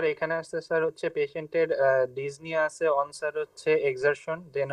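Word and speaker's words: dyspnoea: ডিসপোনিয়া, ওকে, তো আচ্ছা ডিজনিয়া, আপনারা না এই উচ্চারণটা sorry this is ডিজনিয়া, this ডিজনিয়া আপনারা সাউথ ইন্ডিয়ান উচ্চারণ থেকে বেরোন। হ্যাঁ, this is ডিজনিয়া। Okay, P should not বি আটার্ড।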